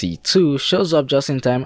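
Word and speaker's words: C.C.: a mysterious girl named CEC is somehow pronounced C2 shows up just in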